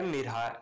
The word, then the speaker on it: Mirha: Welcome to Urdu سے YouTube channel. نام ہے مرحا، انگلش میں اس کا سپیلنگ ہے MIRHA۔ مرحا ایک اسلامی نام ہے